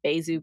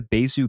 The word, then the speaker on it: Besu: with like the full tool set of ConsenSys, we also have the Besu client.